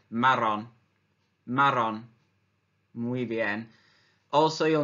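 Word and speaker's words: marrón: the errors are so you got to roll your tongue a little bit Marin Marin muy bien also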